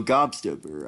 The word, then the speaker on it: Gobstopper: Oh, Gobstopper. I was saying that wrong, but I almost got it though. Okay, so Gobstopper.